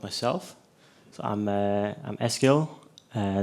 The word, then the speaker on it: Eskil: So, I'm uh I'm Eskil. Uh it's a Norwegian name. Um you can pronounce my name by speaking out SQL.